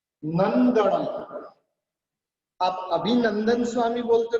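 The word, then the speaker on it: अभिनन्दनम्: लगभग आप ऐसे बोलते, संभवम अभिनम दणम। अभिनम दणम नहीं है, यहाँ पर नम का प्रोनाउंस नहीं करना है, यहाँ पर नन करना है। नम का प्रोनाउंस नहीं करना है, ये गलत है। नंदनम।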